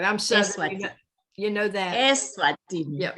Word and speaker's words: Eswatini: Eswatini.